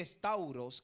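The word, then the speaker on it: σταυρός: el término Cruz viene del griego que se pronuncia es tauros que significa Estaca estacada es palizada palo vertical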